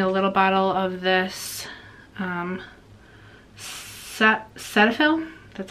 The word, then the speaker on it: Cetaphil: Right now for my face, I'm using a little bottle of this Cetaphil, that's how you say it, because I just